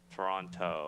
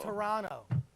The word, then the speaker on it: Toronto: Toronto correct correctly because the second T is silent right Toronto Toronto it's Toronto ask Rob Ford ask